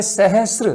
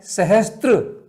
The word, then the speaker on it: सहस्र: ऐसे सहस्र में शब्द है सहस्र, से में रह है, आधा से और पूरा रह, संयुक्त व्यंजन है, लेकिन हम उसको पढ़ते क्या है? सहस्त्र। कितना गलत उच्चारण होता है।